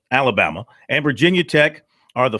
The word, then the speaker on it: Alabama: USC Georgia Alabama Alabama it's not three still Alaba not an extra syllable in there Alabama and Virginia Tech are